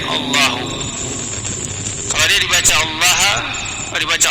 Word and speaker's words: Allahu: Dari sisi bahasa Arab, Allahu di sini bisa dibaca Allahu, bisa dibaca Allah, tapi jumhur ulama membacanya Allahu.